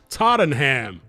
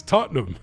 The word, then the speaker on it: Tottenham: It's like when they say Tottenham, they say Tottenham. It's Tottenham. Don't need to do all that extra tingling him.